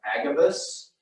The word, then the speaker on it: Agabus: I think his name is pronounced Agabus.